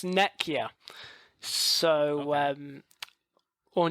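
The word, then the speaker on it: Nekyia: to call it the fancy name um it's nekia so um or neia is fine it's means H it's a Greek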